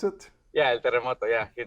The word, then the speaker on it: El Terremoto: Is that how I pronounce it? Yeah, El Terremoto.